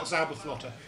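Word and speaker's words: Zauberflöte: Yeah, could you pronounce it properly for me as well? Zauberflotter.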